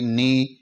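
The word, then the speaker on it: knee: के N double E यहां एन से पहले के आ रहा है तो इस के को हम साइलेंट कर देंगे और एन डबल ई नी ही इसका उच्चारण होगा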